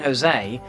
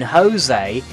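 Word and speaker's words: José: was not aware that the J in Jose is supposed to be pronounced like an H it was an honest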